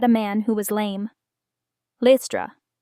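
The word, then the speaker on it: Lystra: man who was lame listra some say listra others say Lyra both are correct lame use a long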